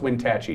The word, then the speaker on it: Wenatchee: And two, it's pronounced Wenatchee.